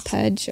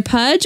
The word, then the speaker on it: Puj: So it's either Puj or Pooj Tub. I vote Puj. Cast your votes. It's P-U-J.